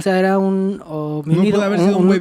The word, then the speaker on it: homínido: Y cuando fue, dice que vio a un ser omnídeo, ¿cómo se dice? Homínido.